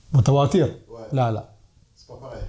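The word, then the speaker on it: متواتر: Bon, après, je prononce mal en arabe. C'est. Mutawasir. Mutawatir?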